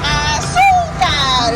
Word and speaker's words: azúcar: When you say it, you don't say azúcar. No. You say azúcar is how you say it.